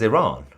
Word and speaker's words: Iran: Iran is Iran. It comes from the Aryans, the land of Aryans. You can't just separate the two words, say I, and then ran. Iran makes no sense.